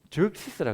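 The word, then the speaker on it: Xerxes: 영어로 어떻게 발음해요? 조시스라 그래요. 또 크세르크세스라 그러고 조식스라 그러고 아하수에로라 그러고 도대체 어떤 왕이냐?이 너무 헷갈리죠.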